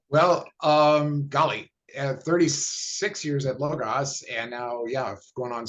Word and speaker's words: Logos: Tom was the superintendent of Logos. I mispronounced that. It's Logos. How do you pronounce it out there? Logos.